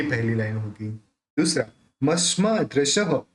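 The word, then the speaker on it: मस्मादृशः: दूसरा, मस्मा दृशः, अब ये जो विसर्ग है यहाँ पे उसका उच्चारण ह करेंगे।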